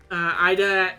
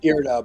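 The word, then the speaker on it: Irida: Ida asked you to intervene, perhaps? It's pronounced Irda, but that's fine.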